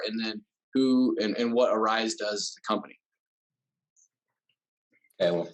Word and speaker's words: ARYSE: but some people mispronounce it so it is pronounced arise uh it just spelled arys um we actually